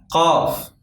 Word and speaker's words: قاف: قاف قاف. This letter is pronounced like a K but harder.